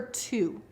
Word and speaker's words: two: we have the number two and that W it looks like it says TW that W is silent but this is because